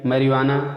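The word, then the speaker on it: marijuana: तो इसमें मैरिवाना और एलिपिनो ये दोनों शब्द में जे साइलेंट है।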